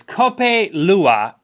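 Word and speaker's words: Kopi Luwak: do you say this cup a Lua is the Indonesian pronunciation for cat poop civet coffee which it's not really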